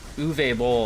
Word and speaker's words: Uwe Boll: Uwe Boll, I believe is how you say it. It's Uwe Boll. He's foreign. You don't. He's German. You don't pronounce it Uwe.